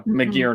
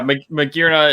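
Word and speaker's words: Magearna: good point or uh mcgear no excuse me god i we have gotten yelled at about you know mispronouncing that pokemon before and i still say it wrong and i have to correct myself every time uh yeah magirna is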